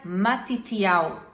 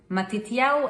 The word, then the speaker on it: Matitiau: O nome Mateus vem do hebraico e ele se pronuncia Matitiau. Matitiau é a junção de Matanat, que é presente, com parte do tetragrama, parte do nome de